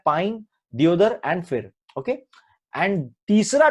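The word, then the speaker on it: deodar: And examples है pine tree, दियोदर, इसको देवदर कहा जाता है एक्चुअली, डियोडर इसका प्रोनाउंसिएशन आप इंग्लिश में देखिए अजीब सा।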